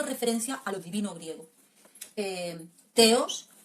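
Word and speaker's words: θεός: teos, tal y como lo pronuncia y tal y como lo expresa Aristóteles.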